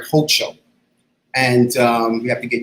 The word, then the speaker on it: Hochul: And I guess in 2 weeks, she'll become our formal governor, Kathy, I want to say her name right, Hochul.